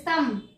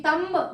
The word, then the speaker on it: thumb: What about this thumb? This is silent. This is B. Thumb we will not pronounce.